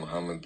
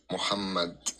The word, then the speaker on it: Muhammad: Pronounce the uh H in Muhammad like you pronounce like I don't know how to explain it but you pronounce the H like ha. It's called Muhamad in Arabic.